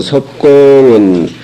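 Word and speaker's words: 葉: 그런 섭공이문 공자의 자로한데 자로 불대언을 섭공은 이자는 원래 자가 무슨 자요?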